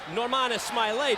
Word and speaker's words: Norman Smiley: You can see that Nor-man Smile-y.